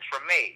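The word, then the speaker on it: Tremé: Oh, Treme.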